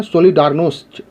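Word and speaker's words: Solidarność: इसके बाद ए new independent trade union called सोलिडारनोस्ट, इसका सही प्रोनाउंसिएशन है सोलिडारनोस्ट, और इंग्लिश में सोलिडेरिटी।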